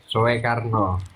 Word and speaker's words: Soekarno: Tulisan OE dibacanya kan U itu zaman dulu itu. Bang Majid nggak paham itu. Tulisan OE. Oh, masa kok udah ngecek-ngecek ulama Tulisannya gitu kan. Soekarno.